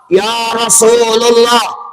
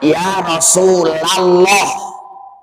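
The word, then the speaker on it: يا رسولَ الله: semangat ya Rasulullah salah Pak jangan ya rasulullah yang benar Ya Rasulallah Kenapa itu adalah munada mudof kalau munada mudof harus dibacanya patah tidak boleh dibaca Rafa harus nasab patah enggak boleh ya Rasulullah Nah itu namanya ya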